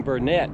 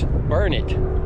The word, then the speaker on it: Burnet: one month one day i keep saying burnett because that's the way we would pronounce it in north carolina but here it's burn it darn it you know